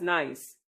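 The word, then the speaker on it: gneiss: Ganise pronounced as nice.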